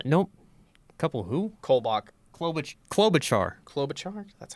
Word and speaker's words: Klobuchar: Sanders, a lot of Biden, and a couple Kumacher. I don't know. Nope. Couple who? Kolbach. Klobuchar. Klobuchar?